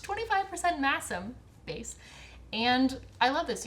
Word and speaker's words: Masham: This is a 75% BFL, 25% plot twist of the century, masam. That was never on my list of ways that might be pronounced. 25% masam base.